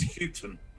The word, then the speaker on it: Hughton: It's Chris Hughton. Houghton. I always get his name wrong.